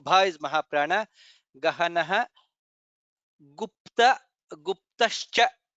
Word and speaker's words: गुप्तश्च: In the second line, Guhyo Gabhiro, Bha is Mahaprana, Gahanah Gupta, Guptascha, Pa, Ta, Sha, Cha, all the four letters to be pronounced.